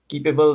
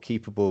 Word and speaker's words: Keepabl: Let me spell that out for listeners, because Keepable, when I searched it, I put it with an A. So Keepable is Keepabl. So there's no E.